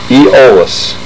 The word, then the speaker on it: Aeolus: Pronounced silent A, Aeolus.